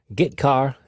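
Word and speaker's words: getchar: input and output the two most common C language character io functions are get car and put car that's how I pronounce them get car fetches a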